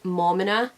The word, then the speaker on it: Maumina: said this before but you pronounce my name as mama no people have always said